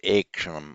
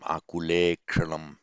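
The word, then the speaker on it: आकुलेक्षणम्: So I fell into the trap there of pronouncing short eh. It's ekshanam, akulekshanam. The subject of this sentence is Madhusudana, literally Madhu destroyer, the destroyer of Madhu.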